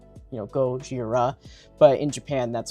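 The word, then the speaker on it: ゴジラ: So, to illustrate this better, it's pronounced Gojira, right, when they're in these when they they say his name, and it sounds like Gojira.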